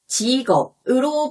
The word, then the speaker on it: 직업: 직업은 이렇게 직업으로 발음되는데요.